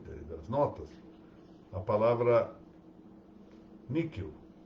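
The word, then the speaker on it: nihil: das notas a palavra níquel n i h i l níquel fala-se como se fosse um um k pequeno ou um q rapidamente falado mas se se pronunciarem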